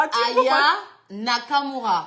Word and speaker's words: Aya Nakamura: Aya Nakamura. Ayana Kamora. Vous voyez, moi-même, je n'arrive pas à prononcer.